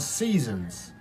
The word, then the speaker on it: SZNZ: a as a group they are called Seasons Seasons EPS that is spelled SZ NZ so yeah got sort